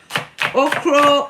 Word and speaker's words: okra: cutting the okro already okro or okra which one is the correct pronunciation I know in Ghana it's okro but if I go